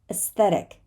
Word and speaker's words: aesthetic: have guessed it but we do not say aesthetic right we say aesthetic aesthetic like imagine that this a